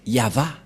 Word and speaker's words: Yahvah: V et he et la prononciation de ceci c'est yava voilà euh la prononciation